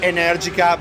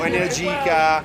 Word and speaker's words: Energica: The general pronunciation is Energica, but we are in America, so Energica, Energica, yeah, it works.